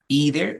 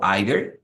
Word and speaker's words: either: The person answers either o either. Estas palabras tienen dos pronunciaciones, es como either o either, como ustedes lo quieran pronunciar, right? Depende del acento que ustedes digan.